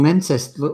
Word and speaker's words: Leicester: Bangkok travels in Leicester.